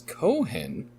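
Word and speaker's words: Cauvin: he was known as cowan he then moved to geneva where he formulated the philosophy now known as calvinism at first known in geneva as cohen the usual pronunciation of cowan he anglicized his name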